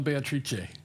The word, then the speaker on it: Beatrice: And I'm going to insist on Beatrice, because the rhythm of the lines doesn't scan properly unless you give it the full 4 syllables.